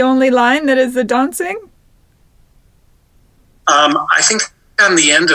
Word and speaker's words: Dontzig: It's Dontzig, right? Like dancing, only dancing? It's Dontzig. Dontzig. It's spelled with a T, but the T is kind of silent.